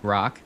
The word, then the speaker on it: Grock: Maybe that's exactly like you know uh 99 9,000 BC like oh yeah then go ask the the oracle Grock rhymes with Grog.